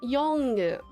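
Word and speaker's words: Yolŋu: Um, the N with the hook is pronounced, so it's pronounced Yongu.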